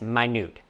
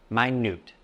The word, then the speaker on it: minute: As an adjective to describe something very small, it is pronounced as minute, not minute. The first syllable has a long I sound, my, and the second syllable is stressed, newt.